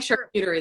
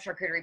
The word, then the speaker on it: charcuterie: so how about that but you do like sharp cutery though i love charcuterie but after mispronouncing those in front of actually a writer